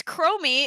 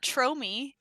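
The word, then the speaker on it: Chromie: think she's hilarious Morkie it's chromy it's not tromi why wouldn't it be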